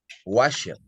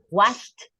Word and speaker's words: washed: You are pronouncing the ED. It's washed.